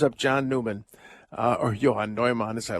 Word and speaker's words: Newman: Johan Noman. You may well ask who Yoan Noman is. Well, we call him John Newman, but I say it right. Johan Noman.